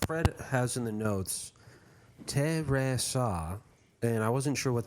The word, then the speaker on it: Teresa: So Fred has in the notes, Teresa, and I wasn't sure what that was. It took me a second. Oh, that's how you pronounce her name, Yeah. It's pronounced the Portuguese way.